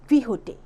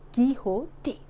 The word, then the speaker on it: Quixote: This is an extract from Miguel D सर्वांटेस great novel about don क्विहोटे, pronounced as Quixote, the eccentric gentleman who fancied himself a knight.